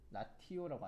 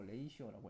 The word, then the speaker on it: ratio: 이제 R ratio라고 해가지고, 자, 영어로 이렇게 이거 라티오라고 아니고 레이시오라고 읽어.